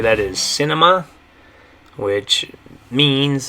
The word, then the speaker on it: cine: Okay, and the way you're going to say that, though, is still kind of similar to the word cinema. In Spanish, you're going to say cine. Okay, so in English, it's cinema.